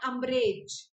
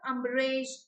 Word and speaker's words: umbrage: on a bridal Meggie thank you he took umbrage at this to pronounce Jessica a humble rage and umbrage ambarish it is pronounced like this he took umbrage at his lethargy very talent lazy I'm usually